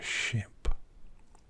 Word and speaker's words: ship: This is a minimal pair because of the repeated sh sound and the vowel. And then of course the consonant on the end is the same as well. Now for some non-native speakers it can be confusing. Ship could mean sheep. Sheep could be how you pronounce ship. But when I say it, you can hear the difference ever so slightly.